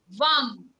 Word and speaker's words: VAM: The Bija mantra we can chant is VAM, V-A-M, VAM.